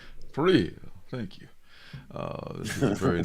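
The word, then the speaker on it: Parrillo: I'd rather roll my L's and my R's. Yeah. But Parillo. Parillo.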